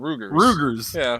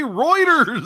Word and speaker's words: Reuters: Well, Hunter, he heard about it on Rugers. Yeah. Or routers. I just want to grab the boy by the head and go, just say Reuters.